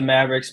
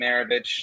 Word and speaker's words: Maravich: No, I mean, like, they had Pistol Pete Maravich. I always used to call him Pistol Pete Maverick because it was easier to pronounce it like that when I was a kid, who played for the Mavericks.